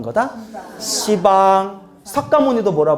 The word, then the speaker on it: 시방: 근데 왜 시방이라고 하는지 알겠죠? 발음이 너무 세. 한번 생각해봐요. 여러분 따라해보세요. 십방. 이런 십방 완전 욕 같잖아요. 십방 뭐 이런. 그래서 뭐라고 발음하는 거다? 시방.